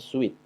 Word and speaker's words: suite: tasnya ada pilihan-pilihan kemudian ada suit bacanya sweet sweet room Ini kamar dengan fasilitas